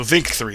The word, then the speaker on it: VNNK3: By the way, my name is pronounced Vink. Oh, okay. So Vink3 asked that question.